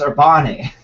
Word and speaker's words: Urbane: It's pronounced Urbane, right? Urbane, I think. Urbane? Urbane. Yes. It's Urbane.